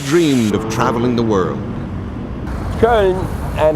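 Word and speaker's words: Köln: benedict the two dreamed of traveling the world cone and it's pronounced in the English cologne probably the one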